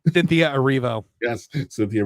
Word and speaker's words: Erivo: is how do you say her name Cynthia Aro yes Cynthia Aro very passionately she it's very clear how she